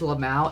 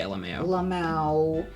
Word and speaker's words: lmao: i'm so pissed uh anyone who says la mao instant lack of respect for you um i've said lmao a few times but i don't pronounce it la mao that sounds horrible i say lmao i want to [